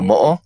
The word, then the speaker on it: mo'o: It's M-O-umla-O. Moa, maybe? Mua? Oh, the mo'o? Yeah.